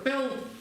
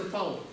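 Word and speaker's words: དཔལ: Смотрите, вот это слово читается пел, иногда читается пал. Есть несколько диалектов, где одно и то же читается по-разному.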